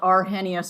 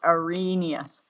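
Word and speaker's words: Arrhenius: It's not p pronounced arhenius. It's pronounced arenous.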